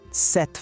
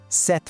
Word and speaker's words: cette: É um E mais aberto. Ouve mais uma vez com atenção. Cette femme.